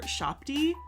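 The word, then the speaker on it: shabti: And then sometimes if you have so many shopties, your shopty needs an overseer shopty. So a shopty is you can also pronounce it U-shopty.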